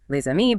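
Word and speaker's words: les amis: Take the plural article le on its own that s is silent. But before a mi friends, it links. Leami becomes leami. That z sound appears.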